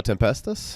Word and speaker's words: Tempestas: Tempestas? Verbo Tempestas, yeah. Tempestas? Yeah, it's Okay. Latin for Y'all word want to go store. ahead and Yeah, introduce? sure. Yeah, I'm Latin. from Verbo Tempestas.